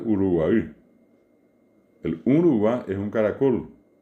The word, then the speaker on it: Uruguay: Podemos ir un poco más al sur y vamos a encontrar que está la República Oriental del Uruguay, que bien pronunciada la palabra es Uruguay.